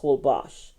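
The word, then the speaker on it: Holbox: go to Cancun, I say go to Isla Holbos or it's spelled box, but it's pronounced Holbos.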